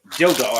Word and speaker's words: Dildo: it's got cities like dildo I'm sure you've heard of dildo that's a city name no I'm not joking it's in Newland it's spelled like dildo and it is Dildo it's dildo Newland it's